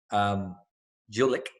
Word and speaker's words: Gulick: His name is Jake Gulick. That's the right way to say it. Jake Gulick. That kind of rhymes a little bit.